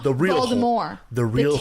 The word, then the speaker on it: Voldemort: Voldemort. No. Oh, I should other correct. one. I said it wrong. The real Voldemort. The real The T is not horror. pronounced because it's French. The real Voldemort.